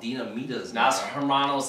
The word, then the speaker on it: dinamitas: flavor of doritos dinamitas i have been schooled to to know that they are called dinamitas dynamodus exactly because i got scolded for our botching of the pronunciation of it uh in the last